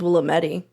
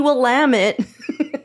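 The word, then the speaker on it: Willamette: names I'll jump in I thought it was Willam Medi for sure you know oh yeah as opposed to like why would it be will lamit you one of my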